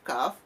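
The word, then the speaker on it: كاف: Nanti ada teman huruf qaf ini yang mirip dalam pengucapannya, yakni kaf. Kaf makharijul hurufnya di pangkal lidah sedikit ke depan. Kalau qaf tadi di pangkal lidah sedikit ke belakang, sehingga bunyinya hampir-hampir sama. Oleh sebab itu perlu kita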